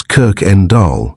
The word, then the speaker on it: Kuykendall: Anglos could barely pronounce Kirk en Dahl, his last name, which was Dutch.